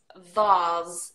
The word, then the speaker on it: vase: if you can see the word but it's Vaz in British English base phase is that with